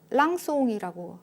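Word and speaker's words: ร่างทรง: 태국어로는 사실 랑송이라고 랑송이라고 그렇게 발음을 합니다.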